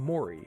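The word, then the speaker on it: 森: So you get from, the character moto, but also be pronounced like ki. And then you would become mori when you have 3 of them.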